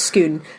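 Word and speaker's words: Scone: at a place called schoon not school no schoon is spelt s-c-o-n-e like the baked good but it's not pronounced it's pronounced skoon and over the years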